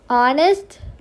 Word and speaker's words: honest: She is an honest girl. So remember we saw honest, our, air, and other words, so like etc. These words, H is silent.